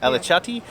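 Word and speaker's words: Alaçatı: Well, since we're in Alacati, is that my saying it right? Alacati? Alacati.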